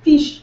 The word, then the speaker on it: fiche: Like, seriously, it's fiche. I'm pleading the fifth. Little teeny fish. No, not fish. Fiche. Fiche. It's different.